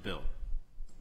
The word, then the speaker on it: Beal: Yes, B-E-A-L. B-E-A-L. Okay, we're a little confused by our list. It's not two men's first names, but Mr. Beal, pronounced Bill.